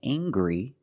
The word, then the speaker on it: angry: Anger is a noun, and angry is a description. I can say he's very angry. We use the nasal sound, plus the hard G.